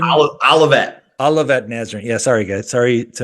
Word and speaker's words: Olivet Nazarene: played uh collegiately at Olivia how do you pronounce Olivia nazarin Olivet Olivet Nazarene yeah sorry guys sorry to everyone small school